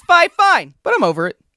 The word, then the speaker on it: FiFine: And what they told me is that the pronunciation would actually be Fine Fine.